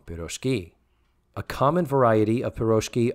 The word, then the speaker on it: pirozhki: The stress in pirozhki is properly placed on the last syllable. So they're saying it wrong, pirozhki.